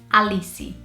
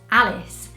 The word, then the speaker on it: Alice: And in Portuguese, we would say Alice, which is very different to how in the UK or British people or even American people would say it as Alice.